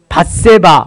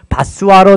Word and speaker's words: 밧세바: 이 바스와는 밧세바, 우리아의 아내 밧세바인데 이렇게 철자 스펠링이 좀 잘못돼 가지고 다른 발음으로 바스와로 된 건데, 밧세바의 소생, 밧세바의 소생입니다.